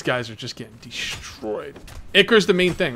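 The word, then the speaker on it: Ichor: Oh, itch or how do you say that again? Yeah, Icker.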